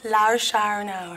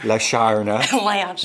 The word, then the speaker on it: Lashana: How to pronounce Lashana Lynch? Oh. Go on. Lashana. Lashana.